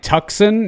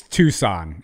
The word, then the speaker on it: Tucson: in a group setting you say it like tuxen no it's it's tucson it is not tuxen it is tucson i've